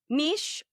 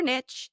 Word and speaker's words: niche: It is realistic if you use the word niche or niche, however you choose to pronounce it.